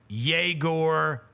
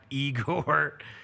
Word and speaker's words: Yegor: Obviously, I was completely out on Yegor Denman as soon as I got the pronunciation guide and realized he is not Igor. It's Yegor. He's Yegor.